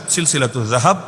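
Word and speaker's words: سلسلة الذهب: আমি শুনিয়ে দিচ্ছি, বইয়ের নামের অংশ হিসাবেই লেখা আছে সিলসিলাতুজ যাহাব। আপনার মতো জাহাব না, সিলসিলাতুজ যাহাব না, এটা তো উচ্চারণটাও শুদ্ধ করে করা যায়, সিলসিলাতুজ যাহাব ফিমা রাওয়াহুল ইমাম আশ-শাফিঈ আন মালিক আন নাফি আন ইবনে ওমর।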